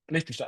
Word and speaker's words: Liechtenstein: Liechtenstein, the country next to Switzerland. How do you say that in English? Fine. Yeah, same. Also It's- Liechtenstein.